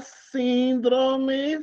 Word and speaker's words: síndrome: considerando a sílaba tônica a palavra síndrome síndrome segundo a acentuação tônica é paroxítona Ei Coração de Jesus síndrome síndrome três sílabas é pró pró Como é fala